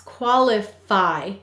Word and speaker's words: qualify: out where is this where's the stress qualify do you hear how it fi is stressed so this syllable qualify is stressed and it says it's e sound only at the end of a multi-syllable word in an unstressed syllable but here it's stressed so it is saying i excellent the next